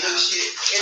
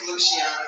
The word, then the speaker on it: Luciana: Hi, Luciana. Did I say that right? It is really Luciana. It is. We call it China. But it is Luciana. That's how you pronounce it.